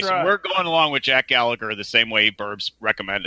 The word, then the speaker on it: Gallagher: suplex City Limits for correcting us all on the pronunciation because there is no such thing as Jack Gallaher but anyways we're coming along with Jack Gallagher the same way burbs